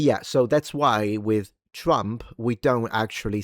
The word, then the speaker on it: Trump: But yeah, so that's why with Trump we don't actually say Drumpf. Uh but but people do roll their Rs. They do say Trump. So, the R is rolled.